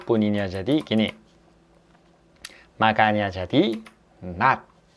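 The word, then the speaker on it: 낮: Vokal konsonan N, lalu vokal A. Lalu konsonan akhir gini. Makanya jadi not, not, not.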